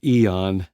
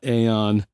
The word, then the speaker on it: Aeon: brain blip who knows TC electronic pronounces this Eon not a on sorry about that TC